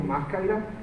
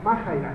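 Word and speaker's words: μάχαιρα: Ahí lo ven como Maaira, pero ya este consultando se pronuncia Majaira.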